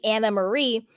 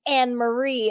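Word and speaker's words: Annemarie: and speaking of it she does pronounce her name Anna Marie I had this Troll and my comments a little bit back was like I can't listen to someone who doesn't know how to pronounce her name it's an Marie and I would and I was like I'm pretty sure she pronounces it Anna Marie and she does she does it's Anna Marie so hi troll thank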